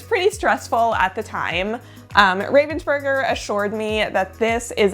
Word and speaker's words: Ravensburger: So I do believe that the proper German way to say it is Ravensburger, but it is so hard to change the muscle memory since I've been saying Ravensburger my entire life.